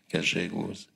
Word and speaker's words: Gallegos: Et j'atterris dans une sorte de ville, pas du Far West, mais du Far South argentin, qui s'appelle Rio Gallegos, qui s'écrit G-A-2-L-E, qui prononce Gallegos.